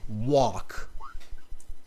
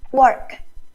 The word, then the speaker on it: walk: talking about walking okay repeat this word after me phuong walk work no it sounds more like you're saying work walk really open up your mouth and when you're practicing